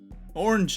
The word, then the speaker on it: orange: Or like people will say that orange is 1 syllable. Orange. It's like orange is 2. No. There's an Like A, orange is 2 there's syllables. Orange. Yeah. Which is why it also rhymes with hinge.